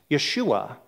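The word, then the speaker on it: ישוע: is Jesus in Hebrew that that name is pronounced Yeshua or in in more you know um appropriately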